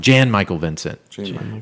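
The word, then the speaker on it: Jan-Michael Vincent: you know that is I just said it wrong Jan Michael Vincent Jan here's a better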